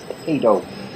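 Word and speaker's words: paedo: the B by correctly pronouncing the word pedo like Pediatrics not pediatric it's p a e not p d okay and R the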